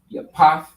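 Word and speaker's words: Japheth: And Japhet is pronounced as Yapath in the Hebrew, right?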